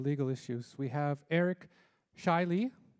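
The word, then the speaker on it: Zscheile: We have Eric Shiley. Shiley looks nothing like it's spelt. If you I don't see the Z, but anyway.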